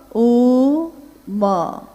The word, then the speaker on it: ओम: दी जो प्रकट हुई उस ध्वनि की आवाज थी आ ओ म अगर एक साथ सुना जाए उसको तो उसकी आवाज गूंजती हुई ऐसी है जैसे हम बोलते हैं या उच्चारण करते हैं तो हम कहते हैं ओम है वो अ उ म यानी उत्पत्ति स्थिति और